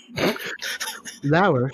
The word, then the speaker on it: Lauer: Lauer, spelled like lower.